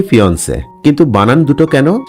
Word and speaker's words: fiancé: দুটোর উচ্চারণই ফিন্সে।